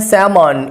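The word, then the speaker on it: salmon: फिर उसके बाद बारी आती है सैमन, इसमें एल साइलेंट है, ये भी फ्रेश ताज़ा पानी की मछली के लिए इस्तेमाल होता है।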